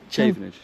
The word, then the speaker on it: Chavenage: Challenger, how do you pronounce it? Chavenage. Chavenage.